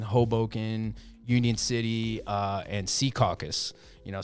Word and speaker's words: Secaucus: the meadowlands caucus or seacoast c caucus not not secaucus secaucus sounds suggestive in a way c caucus sounds a little bit a little bit better that's how i know